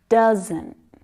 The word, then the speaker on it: doesn't: say doesn't doesn't doesn't and again you can hear that stopped T sound right you've also got two syllables there one of them is stronger than the other can you hear it doesn't doesn't doesn't that first syllable got a few tricky consonant sounds there at the end so you know